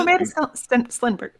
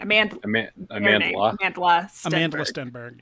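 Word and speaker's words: Amandla Stenberg: Also, Amanda Stenberg. Nope, saying her name wrong. Amanda Stenberg.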